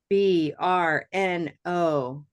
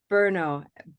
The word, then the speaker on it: Brno: I was wondering to see if we have, and then Mira has a very interesting city name, Brno, and that's intriguing to me.